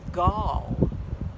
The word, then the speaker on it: gall: ball it's called a Gaul g8 l l it rhymes with ball but it starts with G the mama gall wasps